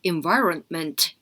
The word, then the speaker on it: environment: 때 L발음 올라가는 거 environment 할 때 급하게 하지 말고 environ 해서 N발음 끝까지 하고 ment 이렇게 들어갑니다. 그래서 environment 이렇게 들어가야 되고 helpful 할 때 help